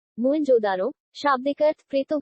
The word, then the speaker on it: मोहेंजोदड़ो: इनमें से 2 नगर बहुत ही महत्वपूर्ण हैं, पंजाब का हड़प्पा तथा सिंध का मोहेंजोदड़ो। मूल उच्चारण मोहेंजोदारो, शाब्दिक अर्थ प्रेतों का टीला।